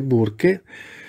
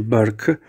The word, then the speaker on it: Burke: anti menconi del cardinale burke e lo dico come scritto sembra che si pronunci bark questo cardinale burk marc